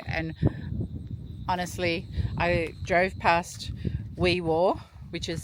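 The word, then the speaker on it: Wee Waa: Only spending one night here and honestly, I drove past Weiwir, which is spelled Weiwa, but they ask you to pronounce it Weiwir, and picked up a few things in their IG, and that was a nice little town.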